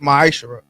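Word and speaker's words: ma'aser: Means 10th in the Hebrew and pronounced ma'ashara.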